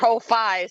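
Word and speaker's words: Ko-fi: Uh, if you sign up for coffee, say like Kofi, so don't worry about it. I don't know how to say that, right? It's like Wi-Fi, but not.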